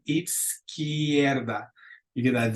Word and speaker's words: izquierda: A la izquierda de. And let's repeat that one a couple times. Izquierda. Izquierda. So the Z is going to almost have like a TS on. Izquierda.